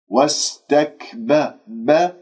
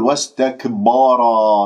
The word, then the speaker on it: واستكبر: ما أنا أجيب أقول واستكبر خطأ، هذا مبالغة في الهمس، أو أنه أقلقلها واستكبر، وهنالك من يقول واستكبر يفخم الباء لأنها جاورت الراء المفخم، الراء مفخم لماذا؟ لأنها مفتوحة، الباء مرققة مستفلة، واستكبر واستكبر، وكان وكان